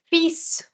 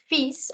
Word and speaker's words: fils: Similarly, this word is called fils. It's not called fil, it's called fils, and it's the word for son, fils. L is silent, S is sounded.